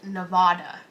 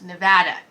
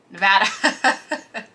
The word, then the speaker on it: Nevada: me uh i think how people pronounce nevada would be one of my biggest annoyances it's not nevada it's nevada nevada we will correct you question number 12 is